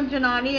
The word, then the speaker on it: Giannotti: Quote from Wiki, Fabiola Giannotti, Italian pronunciation Fabiola Giannotti, born 1962, is an Italian